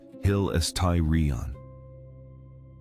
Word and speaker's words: hilasterion: blood, he uses a specific Greek word. hilasterion pronounced hill-uhs-tie-ree-on.